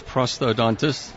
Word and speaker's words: prosthodontist: Yeah, it's prosthodontist. That's right. He did this on purpose so we could throw something. And what exactly does that do? Okay, a prosthodontist is a dentist who has additional training in prosthetics.